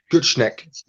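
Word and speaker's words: Gutknecht: How do you pronounce his surname? Gutschneck.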